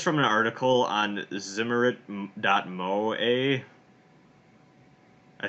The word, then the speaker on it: Zimmerit: so this is from an article on the zimmerit mo a I said that I pronounce a word but it's Zi mm er